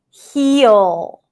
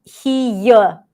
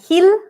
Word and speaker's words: heel: He, and then we have the dark L, heel. Do you hear it? It's almost like I'm saying heel, heel. Not heel, that's a light L, but heel.